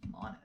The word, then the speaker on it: Monet: because it's pronounced Monet.